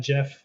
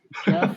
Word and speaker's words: Geoff: Jeff or Joff said Geoff Keighley. Yeah, I don't know how you say it. If he wants to say it's Jeff, I'll say it's Jeff, but it looks like Joff to me.